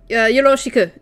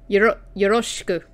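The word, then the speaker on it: よろしく: Yoroshiku. No, that was a bad pronunciation. Yoroshiku.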